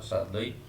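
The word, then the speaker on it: Shadloui: इसको पढ़ना चाहें, सादलोई, वैसे इसका सही प्रोनाउंसिएशन रहेगा सादलोई।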